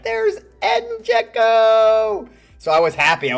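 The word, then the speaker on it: Džeko: It was because I really liked one player and his name was Eden Joeko or I Eden Joeko is how you say it.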